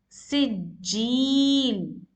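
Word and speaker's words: سجّيل: Likewise, you need to stress more on jim.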